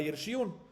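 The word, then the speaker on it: ירשיען: Y Yarshiun, aunque está escrito sin Vav, según todos, ¿qué es? Pronunciamos Yarshiun en plural, es 2.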